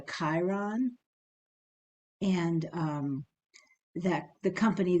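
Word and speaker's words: chyron: three different lines type it's called a Chiron it's spelled uh chyon but it's called a Chiron and um that the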